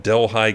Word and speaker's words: Delhi: uh outside of fresno spelled the same way but pronounced differently it was called delhi california not delhi delhi okay damn it